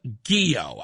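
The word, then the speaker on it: Ghio: child advocate Christina Guio and I hope I'm pronouncing her name right. I haven't had a chance to meet her yet or to talk to her, but I think it's Guio. G H IO.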